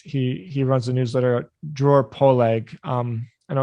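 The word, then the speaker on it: Dror Poleg: on my podcast he he runs the newsletter drawer poleag um i know it's hard to pronounce d-r-o-r-p-o-l-e-g dot com and he sees nfts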